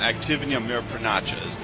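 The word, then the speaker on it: активные мероприятия: it's demoralization or active measures uh again uh activity of mayor pranacha's is how it's actually pronounced and they still use that word though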